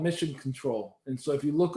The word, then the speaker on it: CTRL: and that's called Mission Control. And so if you look up Mission Control, but control is spelled CTRL, kind of like the key control, Mission Control, that's available